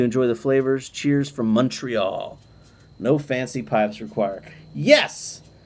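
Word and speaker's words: Montréal: as a text and I call it Montreal but I think the Canadian front seat pronunciation is Montreal right on yeah I'm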